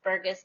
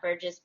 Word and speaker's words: Burgis: incorrectly all the time it's burgess not burgess but so i'm gonna